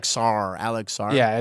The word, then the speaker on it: Sarr: It's like Sarr, Alex Sarr.